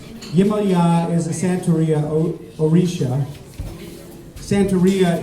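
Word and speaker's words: Yemaya: It's called Yamaya. The correct pronunciation is Yimaya. Yimaya is a Santeria Orisha.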